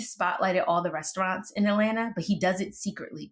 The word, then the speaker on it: Atlanta: I used to say it like Atlanta, and then they told me it was Atlanta.